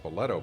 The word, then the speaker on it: Spoleto: Spoleto Restaurant on Main Street, pronounced Spoleto by many, is a favorite among visitors and locals.